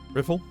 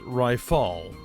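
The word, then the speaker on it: Rytaal: just peachy now right riffle hey you private second class my name is pronounced ryall there you go ryall it's not that difficult you must learn to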